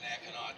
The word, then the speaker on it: Mackinac: it's a Mackinac Trail which is on the east side of